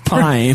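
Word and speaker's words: Paine: A new mysterious girl named Pain, pronounced Pine.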